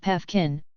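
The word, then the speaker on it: Paefgen: from driving franz joseph piefgen pronounced pefkin who at the time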